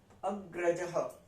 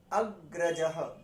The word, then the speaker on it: अग्रजः: तो अब देखते हैं, अग्रजः, अग्रजः, ग के नीचे आधा र ही है, तो जब नीचे वाला र होता है तो हम क्या कहते हैं, उसमें पहले हम लेटर को प्रोनाउंस करते हैं जिसके नीचे वो लगा हुआ है, उसके बाद उस र को, जैसे अग्र, ग पहले आया फिर र है, अग्रजः, अग्रजः मतलब बड़ा भाई, भ्राता मतलब भाई, भगिनी, भगिनी,